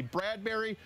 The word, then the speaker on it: Bradbury: Danny Bradbury rhymes with Cadbury, and you eat those at Christmas.